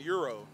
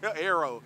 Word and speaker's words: Aero: I was saying it wrong earlier. Okay, you were saying Euro. Euro. Aero.